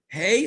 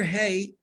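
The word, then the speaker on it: ה: I want everybody, the letter Hey is pronounced, it's an exhalation, right? Breathing out.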